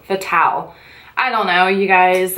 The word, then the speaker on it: Fatale: It's called Femme Fatale. Fatal. No, that's not fatal. Fatale.